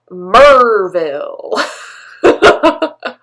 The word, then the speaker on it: Maryville: is spelled maryville but it is pronounced merville although you know nebraska